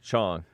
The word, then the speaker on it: Chong: Chong.